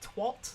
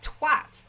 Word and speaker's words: twat: It sounds weird when Americans say it and they pronounce it like twat. Like, sorry, what? What? No, that's not how you say it. It's twat. You fucking twat. You absolute twat. Right? It has to have like a rising A sound. You know, it has to have a hard A so that it has impact.